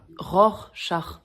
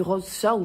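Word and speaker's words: Rorschach: de Ros char quoi ROR char oui c'est ce que j'ai dit non vous avez dit rose char je veux pas le savoir mais on dit ROR char c'est un peu compliqué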